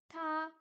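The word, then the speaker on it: 她: compliqué c'est quoi ça ta elle se prononce comme il mais le caractère est différent ben oui mais montre-le parce que ok il se prononce pareil mais montre Sing ok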